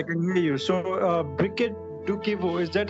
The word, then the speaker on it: Briquette Dukivu: me yes i can hear you so uh briquette do kevo is that how we pronounce it yes yes fantastic so i